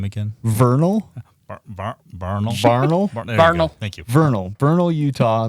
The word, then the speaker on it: Vernal: there the town would be even smaller um Vernal September 22nd through the 24th I'm sorry you didn't say that correctly can you repeat that name again Vernal thank you Vernal Vernal Utah that's how I